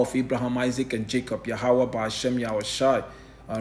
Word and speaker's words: Yahawah: power the power of Abraham Isaac and Jacob yahawah bahasham yahawashi all right the elect will have